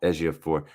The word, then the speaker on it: Ejiofor: Ejiofor.